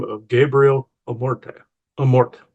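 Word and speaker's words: Amorth: Amort. I keep saying Amorte with like an accent at the end. Apparently, that's not how it's pronounced. It's Amort.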